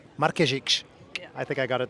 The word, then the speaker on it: Markezic: Tell me how to pronounce it. Markezic. Markezic.